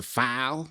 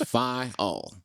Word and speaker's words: Phyall: In the South, it always comes out funny, which is either file, just that one syllable. But I always tell people it's two syllables, Phyall.